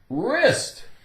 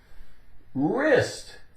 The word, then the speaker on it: wrist: Wrist. Wrist. W, the W is silent. R, I-S-T, ist.